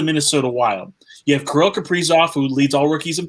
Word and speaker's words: Kaprizov: Kirill Kaprizov.